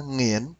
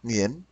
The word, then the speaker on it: Nguyễn: Nó ra nghiễn, nghiễn. Nghiễn thì cũng gần gần đúng đấy bạn. À, Nguyễn thì nó đọc nghiễn, nghiễn. Thì mỗi nước nó có phát âm khác nhau bạn.